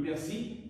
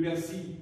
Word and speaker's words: persil: Alors pour le persil, c'est le même cas pour le fusil. Le persil, c'est à l'ordre des épices.